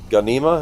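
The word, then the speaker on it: Ghanima: New film Warner Brothers and Legendary Caro I and and uh, Gana, am I saying that right? The Ganima. Yes. Ganima. Okay.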